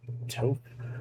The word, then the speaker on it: Toph: Because Toph puts a ton. Is it Toph?